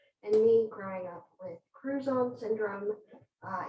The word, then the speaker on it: Crouzon: me growing up with cruise on syndrome uh it's like croutons but with a z everyone always asks how